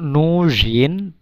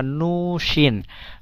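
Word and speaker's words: нужен: একটি ধারালো ছুরি দরকার তম নুজিন তম নুজিন অস্ত্রী নস অস্ত্রী নস মানে নস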